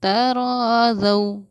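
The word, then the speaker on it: تراضوا: तराज़ौ, बहुत से लोग इसको पढ़ते हैं ज़ो, तराज़ौ, लेकिन नहीं, ये प्रोनाउंसिएशन गलत है। हम इसको पढ़ेंगे ज़ौ, तराज़ौ।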